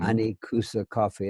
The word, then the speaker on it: Anikusa: And how do you spell that? Anicoosa. Anikusa Coffee.